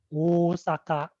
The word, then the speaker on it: Osaka: and osaka it's the the japanese pronunciation is osaka is long and the international is flat jack simpson was telling